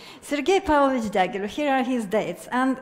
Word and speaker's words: Sergei Pavlovich Diaghilev: So, Sergei Pavlovich Diaghilev. One thing is in my favor is that I'm Russian, so I can pronounce it correctly. Sergei Pavlovich Diaghilev, here are his dates.